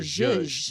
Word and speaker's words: zhuzh: Is it zhuzh or is that your zhuzh?